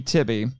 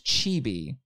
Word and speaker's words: Chibi: if i remember correctly it's supposed to be tibby yeah which is a gross perversion of what it is in japanese it's uh his name is chibi oh okay oh like